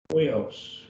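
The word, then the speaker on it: υἱός: And that's pronounced as we. And so we don't have that sound very much in English. Huios.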